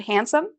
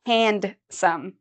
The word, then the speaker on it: handsome: we use the word handsome I know you see the word here hand but we don't say handome we say handsome so it's as if this D isn't there all right so that's